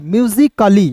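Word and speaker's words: musically: तो यहां देखेंगे एम यू एस आई सी म्यूजिक अली म्यूजिकली देखिए यहां पे म्यूजिकली होता है।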